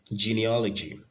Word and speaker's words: genealogy: the next one we start with geneology geneology geneology that's the right way to pronounce it with a stress pattern then we